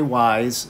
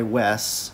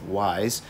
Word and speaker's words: Weiss: we're talking about kai wise sometimes you'll hear people call him kai wes but i do believe it's pronounced wise aka prince kai sorry